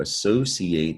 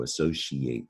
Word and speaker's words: associate: magician or a magician so associate that ci can sound like she also associate depends on i guess how you learn how to pronounce it but you're familiar with